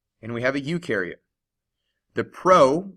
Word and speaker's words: eukaryote: look at a eukaryote you rhymes with do and they do have